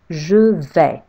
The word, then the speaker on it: je vais: in French, I say je vais. Because A and I in French make the sound E. Je vais. With a silent S at the end.